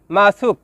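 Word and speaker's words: masak: শব্দটি লেখার ক্ষেত্রে লিখতে হয় মাসুক, তবে এর সঠিক উচ্চারণ হবে মাসু।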